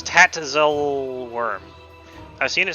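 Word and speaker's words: Tatzelwurm: It's Tatzel worm. I've seen it spelled with an e before.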